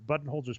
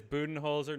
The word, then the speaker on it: Budenholzer: And I think it is Budenholzer, not Budenholzer. I've been pronouncing it wrong. Budenholzer, I don't know.